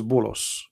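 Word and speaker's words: بولس: If you go to the interpretation, you will see that this is Bulos, which is the way of Muslims, they say and pronounce the name of Paul.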